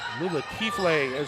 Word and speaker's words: Lula Kifle: Lula Kifle and that's the pronunciation of her name.